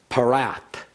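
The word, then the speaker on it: פְּרָת: You'll see that in the English we've added a "u" on the front of it, and that's probably out of the Greek translation of Parat, but in the Hebrew it's Parat, Euphrates River is what's being referred to.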